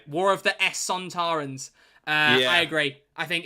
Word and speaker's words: Sontarans: Oh, you pronounced it wrong. It's Zontarans. Shut up. Where's it going? S? S, mate. War of the Sontarans.